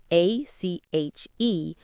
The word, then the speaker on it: ache: The word is spelled a c h e, but it sounds like ache just like the word cake or lake.